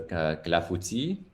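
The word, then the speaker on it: clafoutis: Yes, as is pointed out, en français, it's with an S at the end for Clafouti, but it's pronounced the exact same way, since the S's are usually not pronounced in French.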